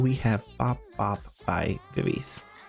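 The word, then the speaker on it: VIVIZ: have pop up by vivise I think it's actually BBG BBG which is their hangover pronunciation but I'm gonna say vivis anyways but we have this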